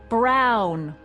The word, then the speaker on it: Brown: That's Emmett Brown. Rhymes with clown, which I'm beginning to think you are.